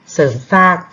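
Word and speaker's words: เสริมสร้าง: ฮัก นี้ ถูก มั้ย เสริม สร้าง ไม่ เอา เสียง รอ เรือ ก็ จะ อ่าน ว่า เสิร์ฟ สร้าง เสริม สร้าง ประสบการณ์ นะ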